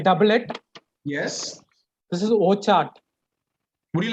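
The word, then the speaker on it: Wockhardt: This is indeed Wokhart.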